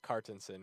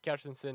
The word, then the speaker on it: Kjartansson: my name is cartenson um the Americanized version is cartinson which is my legal name that's what I go by um captainson is the Icelandic pronunciation and spelling my family uh is